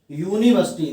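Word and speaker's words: university: पर नहीं लगाना है, क्योंकि जब यूनिवर्सिटी को हम लिखेंगे यूनिवर्सिटी, अगर हम यूनिवर्सिटी लिखते हैं तो पहला अक्षर क्या है, पहला अक्षर है या यग।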